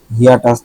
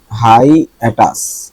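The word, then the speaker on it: hiatus: হাইটাস, হিয়াটাস না, এটা হবে হাই অ্যাটাস, হাই অ্যাটাস।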